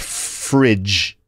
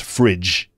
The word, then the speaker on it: fridge: fridge right frig because the frig in refrigerator is pronounced with a J sound not a g sound it's a j sound